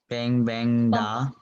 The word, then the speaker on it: 棒棒哒: Awesome for bang bang da. 棒棒哒. Bang bang da. Yeah. Okay. Yes. You use this part to pronounce, like throat a little bit back in the back.